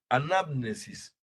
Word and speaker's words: anamnesis: de la anamnesis Perdón son palabras griegas un poco anamnesis es la pronunciación correcta la anamnesis cuando ocurre